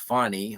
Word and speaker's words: Fani: i e Willis and her name is f a ni I is pronounced fonny or whatever but so the wife